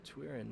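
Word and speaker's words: Twyrine: I was putting way too much emphasis on its I. Too much emphasis on that syllable.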